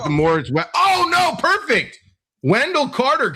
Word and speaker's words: Moritz: And it's not Mortiz, it's Moritz. Obviously mispronounced, but Moritz Wagner.